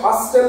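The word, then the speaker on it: hustle: Christmas H ইউ এস সি এল ই এটাকে হাসেল কেউ বলবো না বলবো হাসেল কি বলবো হাসেল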